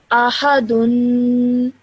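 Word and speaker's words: أحدٌ: So you produce that nasal sound at the end with a dhamma ten. Dun. Ahadun. Ahadun.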